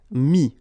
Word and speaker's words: mis: Final S not pronounced, so mettre, to put, mis.